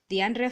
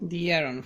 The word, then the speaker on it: De'Aaron: I said DeAndre. Sorry, DeAndre. Sorry, guys. It's De'Aaron. Okay, now is this you playing with me or Oh, you keep saying DeAndre. It's De'Aaron.